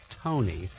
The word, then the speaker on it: Taney: county maryland taney olas okay is pronounced tony came from a wealthy